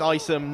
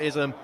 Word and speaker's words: Isom: Yeah, I think we were pronouncing his name wrong in the first half. We believe it's Isom, not Ism.